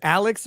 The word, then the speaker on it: Alex: so uh steelax says Alex or Alec well his name is spelled Alex murdaugh and it's apparently pronounced Alec Murdock yeah so I